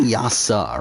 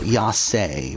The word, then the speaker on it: Yase: Like, I believe they're saying Yasa, right? Because it's like, it's spelled out Yase, but it's like, I'm pretty sure they're saying Yasa, but whatever.